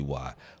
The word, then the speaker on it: why: That's what you Tracy, gotta sit you gotta pronounce the H when you say why.